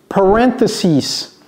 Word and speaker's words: parentheses: How do we pronounce this? Parentheses.